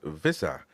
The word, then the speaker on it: Wissa: By the way, it's interesting because uh Ma Mark Wagstaff says if he's from East Africa, it'll be pronounced visa is it used to be a German colony.